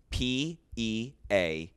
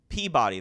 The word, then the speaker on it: Peabody: If you go up to Massachusetts, there's a town that's spelled P-E-A-B-O-D-Y.